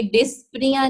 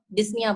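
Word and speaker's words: dyspnea: ये डिस्पनिया नहीं है, पी साइलेंट है यहाँ पे, डिस्निया बोलते हैं इसको, ठीक है।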